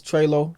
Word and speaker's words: TreLow: as well b-u-r-g-y yeah and for me it's trelo t-o-e-l-o-w that's at treylo for Instagram streaming everywhere it's treylo and Twitter